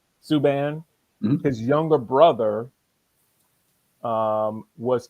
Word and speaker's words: Subban: Not sure if you guys heard about it or aware of it, but PK Subban, is that how you pronounce his name? Subban.